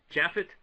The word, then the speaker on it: Japheth: Japheth?